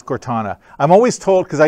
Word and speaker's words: Cortana: them Cortana skills anybody how do you guys pronounce Cortana is it Cortana or Cortana its Cortana I'm always told because I usually say Cortana and everybody says Canadian apparently we pronounce things